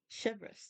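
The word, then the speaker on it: Chevreuse: So what did you want to tell Chevres, that's how you pronounce it.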